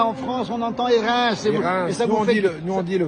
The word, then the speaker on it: Hérens: L'accueil du Val d'Airain, on dit bien Airain en France, on entend Airain.